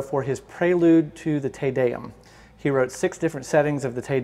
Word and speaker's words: Te Deum: Interestingly, I had a bride request this once for a wedding, and she said, so the Latin Te Deum is spelled T-E-D-E-U-M, Te Deum.